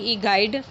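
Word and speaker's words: guide: जैसे हम लोग गाइड लिखते हैं GUID, लेकिन इसको पढ़ते हैं GIDE गाइड, इसीलिए इसमें शब्दों का भ्रम नहीं होता है।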